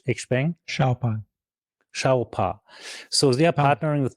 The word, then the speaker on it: Xpeng: VW is not partnering with, and you have a great pronunciation. I need to learn that. How do you say Xpeng? Xiaopa.